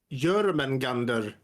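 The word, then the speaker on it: Jörmungandr: right in this case in this spelling it's pronounced German Gander okay let's see the last one in bhagavati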